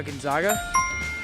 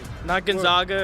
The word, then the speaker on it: Gonzaga: i actually knew that yeah gonzaga gonzaga gonzaga and you pronounce it correctly yeah not gonzaga or whatever that's not an arkansas